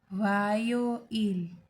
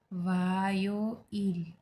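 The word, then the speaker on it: 화요일: Okay, तो Monday को कहेंगे वोरियो इल, प्रोनाउंस लाइक वोरियो इल। ट्यूसडे वायो इल, वायो इल।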